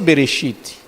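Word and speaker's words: בראשית: Por exemplo, Bereshit, se pronuncia Bereshit, mas não tem vogal.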